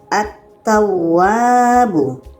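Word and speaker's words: التواب: Jadi bacanya attawwwabu attawwabu lamnya tidak dibaca terus kepada huruf yang ada tasydid atau syaddah.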